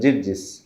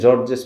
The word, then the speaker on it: জিরজিস: ছিলেন যার নাম ছিল জিরজিস অনেকে জর্জেস বলে উচ্চারণটা জিরজিস হবে হ্যাঁ জিরজিস তো বুহাইরা বুহাইরা নামে পরিচিত